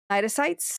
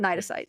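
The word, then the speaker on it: cnidocytes: pretty sure it's right nites because you don't pronounce the C Nyes which deliver powerful venomous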